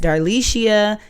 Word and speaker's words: Darlishia: I am darlishia that's darlishia nine letters four syllables I've been called a